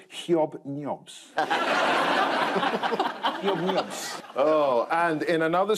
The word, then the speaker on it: Hobnobs: Or as the BBC has asked us to pronounce it, hyob-nyobs.